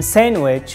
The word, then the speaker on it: sandwich: you were wrong in sandwich we just dropped the d d as silent we don't pronounce d we pronounce sandwich sandwich